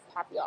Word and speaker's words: papillon: They really don't pronounce the N, so it's like Papillon.